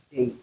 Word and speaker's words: today: For instance, today, if you look at the transcription of today, you see that the symbol indicating stress is placed where we have the second syllable they get prominence today that we pronounce day louder than 10.